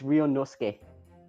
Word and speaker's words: Ryunosuke: That's the only way I can think of pronouncing it. So can you please give me the answer? It's Ryunosuke.